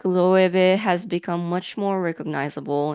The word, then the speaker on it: Loewe: And the pronunciation is funny because Loewe and Loewe are technically the same brand, but they kind of feel like two different personalities.